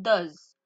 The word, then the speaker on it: does: À la trisème personne du singulier, je rajoute juste un E et un s qui nous donne does. Attention aussi à la prononciation, do.